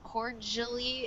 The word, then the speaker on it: cordially: pronunciation of the word cordially it has like a j sound oh okay cool jelly